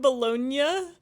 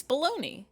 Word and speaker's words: Bologna: The G is silent in Italian.